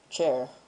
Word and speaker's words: char: a string there's um a character which is pronounced chair and there's uh um